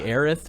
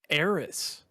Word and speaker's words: Aerith: and now the whole world is on the aerith train in the makko train why would anyone ever say eris that's clearly spelled h no no no in the original translation aerith was the name of aerith in the japanese